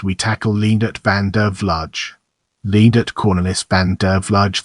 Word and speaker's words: Vlugt: van der Vlug, Vlug pronounced as Vlucht.